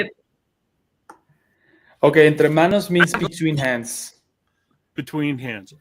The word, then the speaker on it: Entremanos: I'll let you pronounce the name of the brand because I know I'll butcher it up. Oh, Entremanos.